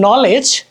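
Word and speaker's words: knowledge: অথচ কেটা উজ্জ্ব থাকতেছে কেটা কিন্তু আমরা উচ্চারণ করতেছি না ভাইরে ভাই অথচ আমি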